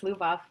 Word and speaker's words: Lubov: Yes, you actually pronounced it correctly. It's Lubov.